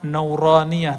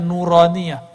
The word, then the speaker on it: nuraniah: Makanya ribat itu kita kasih nama nauraniah. Itu bacanya nuraniah.